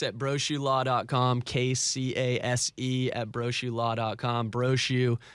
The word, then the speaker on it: Brochu: Brochu, remember, it's not brochure, no R-E.